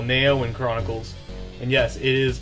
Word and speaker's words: NeOeN: of that basically grew into what I call Nao in Chronicles and yes it is pronounced Nao in for those of you who keep asking me